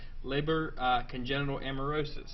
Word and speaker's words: Leber congenital amaurosis: Now, the problem or the condition is called, and forgive my mispronunciation if I do that, Leber congenital amaurosis.